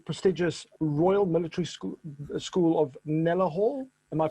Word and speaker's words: Kneller Hall: And an ex-army musician, and you've studied at the prestigious Royal Military School of Kneller Hall. Am I pronouncing that right? Yeah, Royal Military School of Music, Kneller Hall.